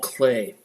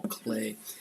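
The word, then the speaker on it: Klee: by Gropius is Paul clay of the EE is pronounced a not e right Paul clay it's a Swiss artist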